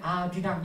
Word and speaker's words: 아리랑: 예, 아리랑의 어원이 알리랑인데 연음 법칙 때문에 원래가 알리랑인데 연음 법칙 때문에 아리랑 이렇게 발음하는 거예요.